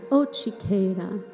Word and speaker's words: Otsiketa: lean over to them and call it, say, Otsiketa. So let's try that. Otsiketa.